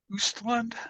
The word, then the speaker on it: Östlund: Directed by Ruben Östlund, I think is how you say his name.